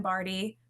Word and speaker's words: Bardy: And then I found her um and I loved her simply because she said, "My name is Pam Bardy rhymes with party."